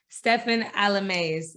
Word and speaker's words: Stephen Alemais: and today i got the one and only stefan alames i said it right right yeah you got